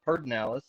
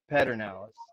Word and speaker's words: Pedernales: As a Texan, I'm going to call it Pedernales. As someone, I'm going to say Pedernales. As a historian, I'm going to say Pedernales. You said Pedernales earlier, so I had to clear that up.